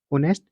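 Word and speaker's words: honest: की साउंड देता है एच इसमें साइलेंट है ओ नेस्ट ठीक है तो यहां पे एन आएगा ऑप्शन बी ए देखो क्या है?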